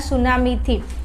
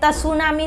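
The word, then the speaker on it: tsunami: थाय तो उत्पन्न थनार सुनामीथी, अहींया त छे ने ए एक्चुअली साइलेंट छे, एटले तमारे तसुनामी नहीं बोलवानुं, सुनामी बोलवानुं, समझ्या मारा कलेजाओ। आ तसुनामी नथी, सुनामी एकलुं बोलवानुं।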